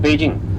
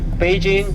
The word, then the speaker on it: Beijing: Now we call it Beijing. So Beijing is the real name of the city according to our pronunciation.